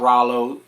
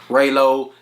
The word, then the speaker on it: Raylo: Google is your friend are a ylo spell it right don't be like Bootsy it's not Rollo busi saves my name up ray low dem damn dogs do